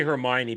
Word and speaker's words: Hermione: Oh, I knew how to say Hermione because I saw the movies before I read the books.